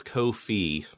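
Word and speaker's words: Ko-fi: David Bernard Hal and I looked up the official pronunciation and it's Kofi Kofi that's weird that's weird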